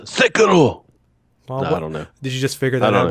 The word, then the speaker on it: Sekiro: It's pronounced Sekiro.